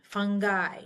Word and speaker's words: fungi: Nar to not Nar when I is at the end of the word the terminal I we pronounce it like eyeball so broni fungi nuclei pronounced like an